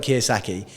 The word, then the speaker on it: Kiyosaki: The second one is Robert Kiyosaki. Is that how you say his name? Yeah, Robert Kiyosaki.